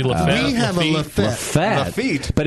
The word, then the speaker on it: Lafayette: You missed a whole syllable. Lafayette.